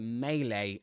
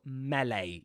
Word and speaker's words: melee: Or a melee attack or melee. You've got two pronunciations for that one. Melee or melee with an E.